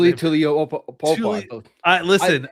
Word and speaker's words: Tuli Tuipulotu: Tuli Tuli Tuipulotu. I listen, It's Tuli. Tuli. Tuli Tuipulotu.